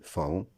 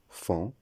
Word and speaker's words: faon: La prononciation incorrecte, ce n'est ni paon, ni faon, ni taon. La bonne prononciation, c'est pan, fan, ton.